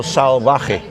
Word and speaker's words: Salvaje: yeah, but the Salvaje there's a V, right? But here they pronounce it as a soft B, so Salvaje, but like a B.